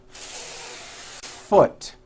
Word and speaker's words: foot: need to do first think of the word as having two beats one two hold the F sound for the First full beat foot like that do it again foot do you see how long I am holding that F now I know that's